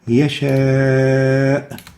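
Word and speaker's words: يشاء: In yasha, we'll find that there is a mad letter, the a, followed by the hamza in the same word. So we pronounce it with a mandatory elongation, yasha.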